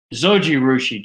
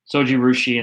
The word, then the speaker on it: Zojirushi: digress but i teach you something this much zojirushi joe is uh joe has helped me out and i think that's pretty close to how it's spelled um thanks joe um sojurushi and in the famous brand of if you